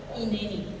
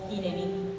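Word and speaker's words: הִנֵּנִי: Este heme aquí, cuando Él contesta heme aquí, se pronuncia en hebreo hineni o hineni.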